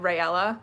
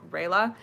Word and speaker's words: Reyla: i want to say i don't know how to pronounce their ship name because i said raela multiple times but i know that that's not right it's like reyla but whatever it's fine um